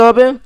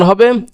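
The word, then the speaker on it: ح: এই হাটা হলো লম্বা, আর এই হাটার উচ্চারণ হলো হলকের মধ্যখান হইতে, অর্থাৎ হলকের যে কণ্ঠনালী যে আছে ওইখান থেকে একটু চেপে ধরে হাটা উচ্চারণ করতে হবে।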